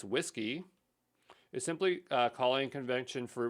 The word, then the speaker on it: WSGI: I don't know uh the web server Gateway interface pronounced whiskey is simply calling convention